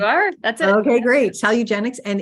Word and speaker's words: Salugenex: So she's created a program called Salugenex. Am I pronouncing that correctly? You are. That's it. Okay, great. Salugenex.